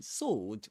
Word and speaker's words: sword: In sword, we don't pronounce the w, the w sound. We say sword.